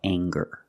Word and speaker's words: anger: it's anger let's talk about anger we have the nasal um sound plus the hard G the G sound together and anger anger anger